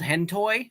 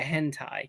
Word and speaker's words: hentai: he's like is there a thing called hentoy I'm like I think you're referring to hentai like so clearly he didn't know what it was because he mispronounced it and I think was Corrine there at the time and we were like yeah it's called hentai like it was very